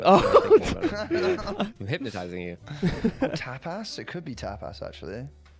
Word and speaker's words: tapas: Dude, it's tap not tap ass.